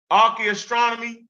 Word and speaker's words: archaeoastronomy: That's archaeoastronomy.